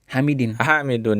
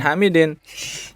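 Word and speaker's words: حامدٌ: Hamidun apa Hamidin? Hamidun ya. Bukan Hamidin. Aina yadhhabu Hamidun. Kenapa Hamidun? Karena fa'il pelaku ya, atau subjek ya. Jadi dia harus marfu ya.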